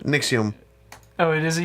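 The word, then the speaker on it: NXIVM: Nixium. It is a U. Nixium.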